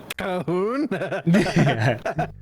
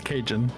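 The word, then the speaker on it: Cajun: Kjun, how do you how do you pronounce it? Um, kahun. Kahuna. It's It's kajun. Is it kajun? Okay. Yeah, I picked kajun.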